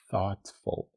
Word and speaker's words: thoughtful: she's kindhearted she's kindhearted thoughtful again the th pronunciation thoughtful thoughtful she's thoughtful thoughtful okay